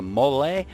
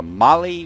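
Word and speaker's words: MOLLE: Best, we're going to go ahead and rock the Mole or the Mali, whatever, you know, specific country you're from. It depends on, you know, how you pronounce that. We pronounce it the Mole.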